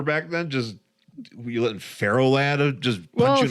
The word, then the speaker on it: Ferro: Pharaoh Lad, Pharaoh, like iron. I was thinking like the grain. No, Pharaoh. Be a Pharaoh Lad. That's his. It's spelled Farro, isn't it? No, it's Ferro. Fe. Ferro, kind of like.